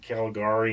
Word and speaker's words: Caligari: I always thought it was pronounced different, but they pronounce it Caligari in here.